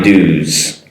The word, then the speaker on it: dues: uh “I've paid my dues” and I want to go over the pronunciation. It’s “i-v-e” uh “paid” “my” “dues” Now “dues” with “d-u-e-s” but the “s” is pronounced as a “z”.